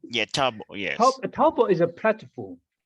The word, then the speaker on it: Taobao: and you mentioned a contract platform called the TAOBAO. Is it, how do you pronounce that? What's TL? Yes, tell us about that system. Oh, Taobao. Yeah, Taobao, yes.